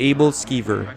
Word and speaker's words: Aebleskiver: to what this restaurant is famous for the able skiver as i like to pronounce it the abled skiver is basically a